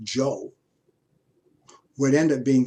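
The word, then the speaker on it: Zhou: the joe notice is spelled with a zh but it's pronounced joe how do i know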